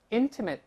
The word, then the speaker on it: intimate: 我们再读一下 " 亲密无间 " 的这个词。intimate，注意这个是形容词